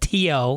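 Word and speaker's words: Theo: trip I just emailed my buddy Teo spelled t-h-e-o but pronounced T.O in Ireland good man one of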